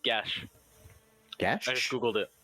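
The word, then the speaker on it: geas: It's pronounced Gash.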